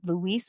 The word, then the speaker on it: Louise: So, of course, this story is a real life experience and follows a big sister, Louise. Is that correct? Did I pronounce it? Louise.